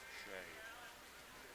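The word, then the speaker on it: Sieh: Last name is S-I-E-H, and it's pronounced Shay.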